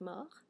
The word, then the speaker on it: mort: Especially with something like mort. So mort, I don't have a final E, so remember a final T is silent, right?